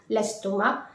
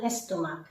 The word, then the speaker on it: l'estomac: And please note, you don't need to pronounce the final C. Avoir mal à l'estomac.